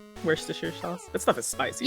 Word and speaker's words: Worcester: say like the sauce it's supposed to be Worster sauce but people say we're Chester Shire yeah Worster Worster sauce that's stuff is spicy yeah like how